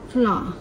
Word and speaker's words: flour: Yeah, they're the same pronunciation. Flour and flower.